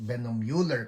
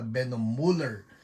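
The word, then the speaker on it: Benno Müller: We would pronounce it Benno Muller, pero sila Benno Muller.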